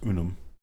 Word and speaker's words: unum: It would be pronounced unum. Properly so.